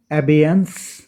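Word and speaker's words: abeyance: এইটা হচ্ছে উচ্চারণটা আমরা ভালো দেখে নেব। অ্যাবিয়েন্স, অ্যাবিয়েন্স, ABEYNCE, অ্যাবিয়েন্স।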